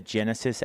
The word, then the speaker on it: Genasys: One of the big ones is always about evacuations, and so we want to really encourage folks to download the Genesis app. It's spelled Genasys.